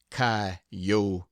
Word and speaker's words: coyotes: chinen Spaniards gamblers sharpers coyotes pronounced kotes poets preachers and jackass